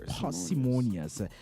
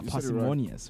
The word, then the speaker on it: parsimonious: Our word for today is parsimonious, whether it's a par or pair. But I think P-A-R is a par. Yeah, you said it right. Yeah, parsimonious, right?